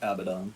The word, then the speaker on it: Abaddon: Abaddon? Is that how you pronounce it? Yes, Abaddon.